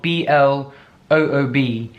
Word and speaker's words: bloob: Bloob is spelled B-L-O-O-B, not B-L-U-E-B, okay? It's bloob, as in boob, but with an L.